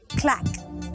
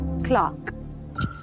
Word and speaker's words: claque: Clack. It is pronounced clack and also Clark.